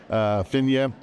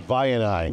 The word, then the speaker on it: Vianai: They have a deal with Vishal Sikka's company, Vinya. I think it's called Vinya. Vishal Sikka, Vianai? Vianai.